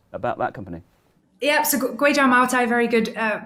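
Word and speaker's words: Kweichow Moutai: Yeah, so Guizhou Maotai, very good pronunciation.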